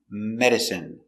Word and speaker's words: medicine: d Med I medic medicine medicine stress on the first syllable medicine medicine not accountable no uh just medicine don't forget to take